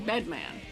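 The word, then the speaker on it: Bedman?: It's Batman. I'm not pronouncing the question mark. I'm just saying bedman. I'm just saying bedman. I'm not going to pronounce the word question mark every time.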